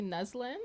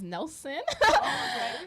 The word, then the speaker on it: Neslin: I'm loving it so my full name is actually neslin and um it was actually a very complicated experience growing up because nobody can pronounce it like just by reading it they would actually like read it as Nelson like Nelson when when he spell